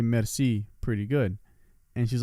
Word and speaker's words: merci: think i could say merci pretty good and she's like say it again i like merci like rolling the r right it's like you can't roll your r's i was like yeah